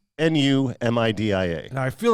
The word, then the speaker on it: Numidia: But there's also New Media, Pennsylvania. Oh, Media. Yes. I got you. Now, they mispronounce it here. It's as New Media. Yeah. It's Numidia.